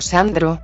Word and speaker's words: Zandro: Mi nombre es Sandro, se escribe con Z. Mi rey le aclaró amablemente, pues su nombre se pronunciaba como Sandro. Por lo que muchos no sabían que usaba una Z en vez de S.